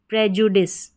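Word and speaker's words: prejudice: आई सी ई dish प्रजुडिस। क्या पढ़ेंगे? प्रजुडिस। प्रजुडिस तो पी आर ई कोड रहता है। इसको प्री या प्र करके प्रोनाउंस किया जाता है।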